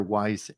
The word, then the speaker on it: Wyze: Bob, tell us about your Wise camera. Well, at my age, I'm also a wise person, and that's spelled WYZE.